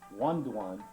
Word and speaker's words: Wando: On this tape, we will examine the rare forms known as Hakucho, Papuren, also pronounced paipuren, and Wando, pronounced Wanduan in the original Okinawan dialect.